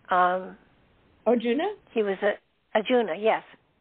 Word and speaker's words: Arjuna: Juna or I can't remember how do you pronounce his name um Arjuna he was a ajuna yes oh I said